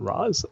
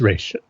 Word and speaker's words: Ra's: everyone calls him by his proper pronunciation race and not Ross that's people still pronounce